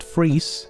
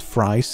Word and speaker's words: Fries: Well, it's most likely pronounced Count Fries, but I'm gonna ignore that and stick with Count Fries and catch up on